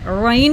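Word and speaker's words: غين: गैन को heavy sound गले के शुरू से अदा होता है। गैन इस pronounced from the upper part of the throat, इसको हमने गैन को अपर थ्रोट से अदा करना है। इसको हैवी साउंड में पढ़ेंगे, इसमें हवा नहीं होनी चाहिए।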